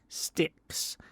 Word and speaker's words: Styx: a long time uh sticks that is spelled Styx by the way not sticks like s i c k s no ST YX sticks they have been around